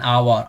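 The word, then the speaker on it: hour: It took me एन आवर, आवर्स इसका pronunciation आवर होता है, राइट।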